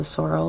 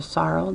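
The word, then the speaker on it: sorrel: in a horse is called a soral or the Sorel depending on how you've learned how to say it it is the most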